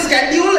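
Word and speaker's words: schedule: सीच का क्या बनाक अच्छा अगले शब्द का उच्चारण बताओ एस सी एच ई डी यू एल ई एस सी को क्या बोल रहे हो ये तो शेड्यूल है तुम तो शेड्यूल बोल रहे हो तुम शेड्यूल क्यों बोल रहे हो अच्छा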